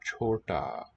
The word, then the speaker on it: छोटा: So this first looping sort of hanging monkey shape, that's the consonant ch. Then the combination of the full length stem here and the one antenna signals that it's an oo vowel sound. Then we get another consonant letter d, and there just the stem there hanging down shows it's a long ah.